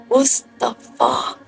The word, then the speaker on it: Mustafa: Mustafa nodded and made a frail attempt to correct her pronunciation. It's Mustafa. Inside the car, Rose smiled.